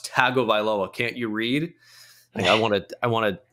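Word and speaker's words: Tagovailoa: Tua that I still get corrected oh it's tago vioa can't you read I want to I want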